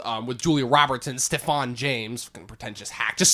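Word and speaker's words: Stephan: with Julia Roberts and Stefan James pretentious hack just say it's Stephen it's pronounced Steven but anyways so my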